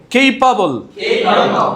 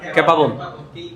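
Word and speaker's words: capable: কেপাবল। আগে তো তোমরা বলতা ক্যাপাবল। তার ক্যাপাবল আছে ভাই, ছেড়ে দাও। তাইলে বলতে হবে কেপাবল। এটা কি?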